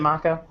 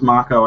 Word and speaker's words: Mako: should point out that it's pronounced Mako and not Mako oh really is it Maca it is Mako and I only know